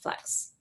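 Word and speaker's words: f.lux: one flux lux so it's spelled f dot l u x but it's pronounced flux f dot l u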